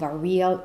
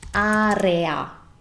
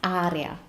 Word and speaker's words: area: you can see them in the context of a real Italian sentence let's begin with the first word